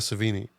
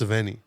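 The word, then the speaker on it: Sevigny: her last name wrong it's not savini it's sveni I have no idea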